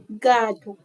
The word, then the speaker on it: gato: See, I'm saying gato, but it's actually gato.